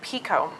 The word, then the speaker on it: Picoult: play you mentioned Jodi Picoult like if I'm pronouncing it correctly I think it's Chugh: Pico peak is what I've learned.